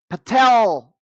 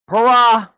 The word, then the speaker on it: Parag: Twitter at the time, Patel Agarwal? That's not the correct pronunciation, but Parag Agarwal, the CEO, or the CEO of YouTube, Susan Wojcicki, the late Susan Wojcicki.